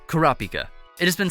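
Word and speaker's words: Kurapika: hika became Pika but in Japanese H is sometimes changed to P when combined with other words as it makes the pronunciation easier imagine if his name is kurahika instead of karapika karapika just sounds better right Kura or dark refers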